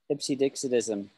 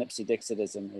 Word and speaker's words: Ipsedixitism: Ipsedixitism. Ipsedixitism. It's a very hard word to say. Ipsedixitism. Six syllables.